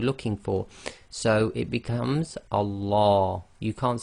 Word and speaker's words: Allah: pronounced the first one if the word before the word name of Allah it has a Cas sound I the last sound before the name of Allah is going to be a casra then we're going to pronounce the Lamb of Allah in a light fashion I so that's light